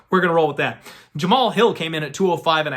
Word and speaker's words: Jamal Hill: sorry i keep saying i keep pronouncing the h in there my bad so i lean to john anik the man who knows his pronunciations i thought it was pronounced jama hall hill however anak is the one who's the expert on this and he calls him jamal hill so we're gonna roll